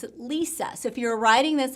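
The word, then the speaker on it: Lesia: l-e-s-i-a so some people might think oh that's pronounced elysia but in reality she pronounced it lisa so if you're writing this on a television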